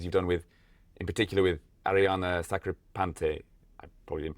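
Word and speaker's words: Arianna Sacripante: Yeah, I guess you're mentioning your routines and performances you've done in particular with Ariana Sacripante. I probably didn't pronounce that right, but that's correct, right?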